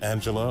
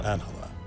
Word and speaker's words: Angela: talking to miss Solano is your name pronounced Angela or anela both are fine but uh most people call me Angela no no no no